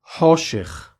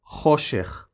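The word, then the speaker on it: חושך: I don't want to confuse you, but this letter has always been pronounced the same way we Israelis do now, as a non-guttural sound, ho.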